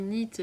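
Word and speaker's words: knit: le K, le peur, quand on dit NIT, on dit pas le K qu'il y a devant, il se prononce, enfin bref, j'ai tout.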